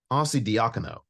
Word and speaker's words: Arcidiacono: Oh my God, I can't even pronounce his second name. Arcidiacono.